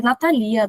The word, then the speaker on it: Natalia: A pronúncia é Natalia, né? Natalia, a pronúncia dela é Natalia. Eu também, quando aprendi isso, fiquei em choque. Mas é porque não tem acento, né? Então, chamam Natalia.